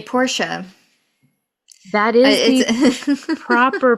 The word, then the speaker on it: Porsche: was the car that he ultimately you say Porsche that is the proper pronunciation of the car name is pora though throughout the entire episode however they do